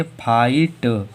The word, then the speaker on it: fight: अब देखो शब्द के अंत में GST आया तो इसमें जीएच साइलेंट होगा, इसे क्या पढ़ेंगे? फाइट।